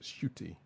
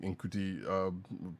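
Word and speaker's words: Ncuti: It's pronounced shooty.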